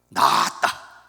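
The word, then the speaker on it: 낫다: 지읒 받침이 아니라 시옷 받침입니다. 받침 하나로 완전히 말이 반대 뜻이 됩니다. 낮다, 장음으로 발음을 해야 됩니다.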